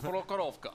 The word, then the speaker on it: Prokhorovka: Prokhorovka. What is our Russian? Prokhorovka.